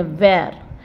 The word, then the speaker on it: wear: कम थोड़ा साउंड बोलेंगे हम लिखे हैं वेयर बट हम वेयर नहीं बोलेंगे वेर वेर मींस पहनना राइट